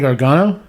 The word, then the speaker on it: Gargano: And another thing that I saw was Johnny Gargano. Mm-hmm. I say his name right? Yeah, you said it right.